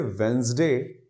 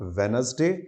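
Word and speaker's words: Wednesday: कह सकते हैं जिनको, जैसे वेंसडे। आई थिंक हर 7 दिन में आता है, आप बोले ना बोले, काम तो जिंदगी भर आया होगा, कि प्रोनाउंसिएशन में डी साइलेंट जाता है। That's not वेनसडे। कई लोग डी हटाकर वेनसडे कर देते हैं, बहुत सारे वेडनेसडे बोलते ही हैं। ना तो वो वेडनेसडे है, ना वो वेनसडे है, दैट इज वेंसडे।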